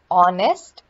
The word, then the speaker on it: honest: you a couple of examples here we have honest the h the beginning edge is silent it's honest another word is crum because it ends with